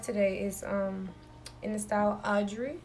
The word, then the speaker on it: Audry: But this wig is in the style Audry. Yeah, that's how you pronounce that.